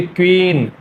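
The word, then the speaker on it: queen: रानी का जो अंग्रेजी शब्द है क्यू U double E एन तो आपको इसको प्रोनाउंस करना चाहिए क्वीन क्वीन आप थोड़ा रिपीट करो क्वीन लेकिन मोस्ट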